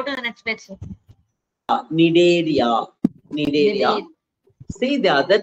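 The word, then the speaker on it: Cnidaria: Nidaria. Nidaria. C silent pa. C is silent.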